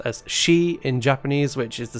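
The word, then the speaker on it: 四: are very have negative connotations four can be pronounced as she in Japanese which is the same pronunciation that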